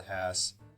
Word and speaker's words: Hass: going to compare this to a Hass avocado that is the correct way to pronounce it as your stickler for